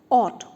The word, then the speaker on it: ought to: good there now next ought to so the pronunciation is odd o u g ht ought to and we always use two after it so